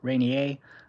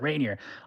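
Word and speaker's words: Rainier: Billy Hill Billy Hill says, "Mount Reineier." I know Americans don't like it when I pronounce it like that. Mount Reineier. It's Mount Reineer.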